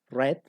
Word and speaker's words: read: consideran entre comillas irregulares sin embargo la pronunciación no va a ser la misma Entonces ese verbo read que en presente nosotros tenemos en pasado se lee como red a pesar de que se escribe igual y en participio también queda